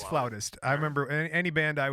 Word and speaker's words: flautist: Is that how you say it? A flautist? It is flautist.